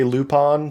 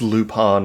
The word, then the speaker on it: Lupin: Because I was saying Lupin because that's how we would pronounce that in English as a name like like the flower. I think it's Lupon in the French.